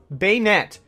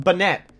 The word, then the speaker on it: Banette: name in every video they meant banette say it with me now beignet I gotta get this into habit it's not banette so snorunt is an